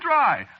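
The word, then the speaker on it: Drei: No, you see, it's a German name. Is it? Yeah, sure. Spelled D-R-E-I. It means 3, you know.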